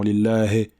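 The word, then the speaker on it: لله: Donc la kasra, c'est le son i. Donc il ne faut pas dire e, comme certaines personnes le font. Lillahi, lillahi rabbi.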